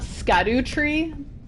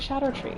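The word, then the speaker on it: Scadutree: since last time that it's not scadu tree blessing it's it's pronounced Shadow so it's like Shadow tree blessing Shadow the Hedgehog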